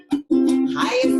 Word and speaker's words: Chaia: Chaia sounds like the word papaya.